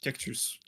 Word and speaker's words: cactus: Cactus. The same. And we even pronounce all the letters.